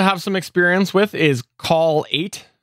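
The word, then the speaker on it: Kall8: some experience with is call 8 except it's like cal 8 almost it's k-a-l-l-8 so i don't know how they want to pronounce that but uh yes that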